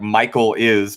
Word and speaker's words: Michaelis: Michaelis, as spelled like Michael is, pronounced Michaelis.